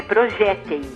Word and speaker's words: projéteis: Lembrando que paroxítona é que tem a penúltima sílaba mais forte.